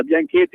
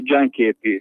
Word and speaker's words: gianchetti: È come quando si dice in Liguria Bianchetti, invece devo dire Gianchetti.